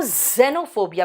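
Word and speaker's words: xenophobia: जब आपको विदेशी लोगों से डर लगता है ना तो जेनोफोबिया, बेटा एक्स है प्रोनाउंसिएशन, लेकिन इसको बोलते कैसे, ये वर्ड में आता है जेनोफोबिया.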